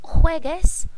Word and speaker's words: juegues: So here, any verb that ends in gar, the negative two form, you're going to have to change that from G to GU to keep that hard G sound.